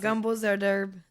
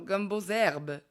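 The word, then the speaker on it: gumbo z'herbes: Gumbo Z-herbe Ouais, en français. gumbo zerderbe. Zerderbe. Non, gumbo zerbe. Gumbo zerbe, OK.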